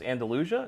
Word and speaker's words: Andalusia: So you're a big fan of, and you're gonna have to help me pronounce this, Andalusia.